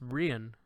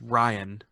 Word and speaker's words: Rian: that's why I come you refuse to say his name correctly don't you it's rien its Ryan its Rin Ryan that's